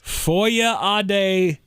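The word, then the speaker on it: Foyesade: Foye Ade Oluokun. Oluokun. That is correct. Foye Ade Oluokun. We're going to have to say that. Silent. Yeah, so the S is silent.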